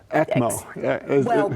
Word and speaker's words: ECMO: That acronym, will you pronounce it? I don't know how to. ECMO.